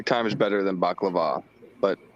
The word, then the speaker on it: baklava: Willie, we pronounce it balewa. And but when we go in the restaurant, it's still spelled out baklava.